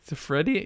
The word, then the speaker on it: Siffredi: back to Rocco Rock you put some extra letters and syllables in there Rocco sifrin d it's a friendiy siffredi yeah I know but